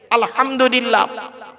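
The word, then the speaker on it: الحمد لله: সূরা ফাতিহা পড়তে গিয়ে আলহামদুলিল্লাহ আলহামদুলিল্লাহ এ গলার ভেতর থেকে এটা উচ্চারণ করবেন হায় হুটি হবজ নয়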